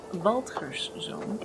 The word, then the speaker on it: Waldgerszoon: Waldgerszoon is the proper pronunciation of this.